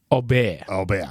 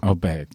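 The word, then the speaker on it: Åberg: star in world golf, whose name is officially Ludwig Aubert. Aubert. Except if you're from the south of Sweden, where he's from, in which case it's pronounced slightly differently, apparently.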